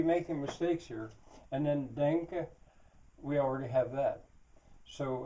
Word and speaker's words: danke: In German it's danke.